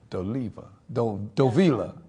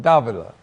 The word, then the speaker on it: Davila: And also, Dovila. How do you say it? Davila.